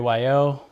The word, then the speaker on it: Guayo: Guayo, pronounced like a Y and a O.